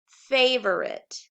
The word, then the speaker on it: favorite: we'll say the word favorite notice that that e is silent on the end of it but we still need